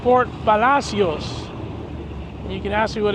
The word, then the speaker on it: Port Palacios: We're in Port Palacios. It's actually pronounced Port Palacios.